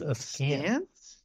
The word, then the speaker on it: askance: What way am I pronouncing? Isn't that what he's, isn't that what Larry says? It's askance.